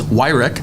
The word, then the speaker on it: Wyrick: I mispronounced his name in our previous episode, but it is Wyrick, and Lane does Snap Delivered.